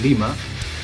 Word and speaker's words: Lima: Cuz in Ohio it's Lima, Ohio. Actually, you you pronounce it very very well. It's Lima.